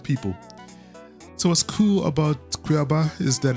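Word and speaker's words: Cuiabá: So Cuiaba is such an exciting, Cuiaba, I think that's how it's pronounced.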